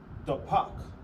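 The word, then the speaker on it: דפק: So knock in Hebrew is pronounced dapak.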